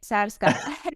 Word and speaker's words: Psarska: Nearly, Psarska. Psarska, that's it.